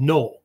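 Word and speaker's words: Noh: They're called no, right? We would normally spell it like an N-O-H, no, right?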